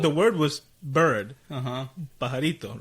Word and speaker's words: pajarito: and then Daniel just goes, Papito, mira ese parajito. Okay, man, whatever. Which is, I don't know how to say it in English, but it's parallel. Like, the word was bird. Uh-huh. Pajarito, right?